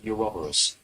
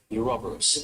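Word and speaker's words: Ouroboros: This horse, and they want it pronounced, I'm pretty sure he said Euroborus. Euroborus. Euroborus. Like half a soft Y.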